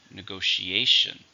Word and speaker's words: negotiation: agree it's a noun it has five syllables stress on the fourth syllable negotiation negotiation between staff and